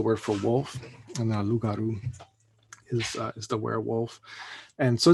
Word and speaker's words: loup-garou: And so that's sort of the typical French spelling of werewolf, loup-garou. So you wouldn't pronounce the P. It's just loup. Loup is the word for wolf, and then loup-garou is the werewolf.